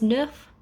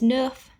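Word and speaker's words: neuf: set eight is wheat nine is nuff and ten is dece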